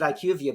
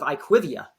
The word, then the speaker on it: IQVIA: what is it yeah I think you pronounce it IQ of you but I hear a lot of iquivia and I wonder if